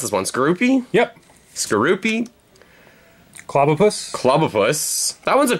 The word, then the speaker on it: Skorupi: How do you pronounce this one? Skorupi? Yep. Skorupi.